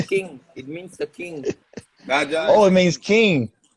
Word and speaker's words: Raja: Raja. Yeah, Raja, like a Rasta man, like a Jamaican. like a king. King. It means the king. Raja Oh, is it means king.